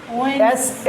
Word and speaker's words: Wednesday: drops it becomes it becomes Wednesday s is like a z z